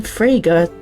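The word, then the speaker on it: Fraga: can do thank you William frager that which rhymes with Sega doesn't sound like the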